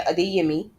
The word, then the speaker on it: Adeyemi: All right, right here, as you can see, so Tomi Adeyemi, that's how you say her name, Adeyemi.